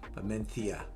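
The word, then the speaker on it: Mencía: um bearskill and amenthia the heavy namencia menthia i've been corrected a million times to get to that point but uh okay i'm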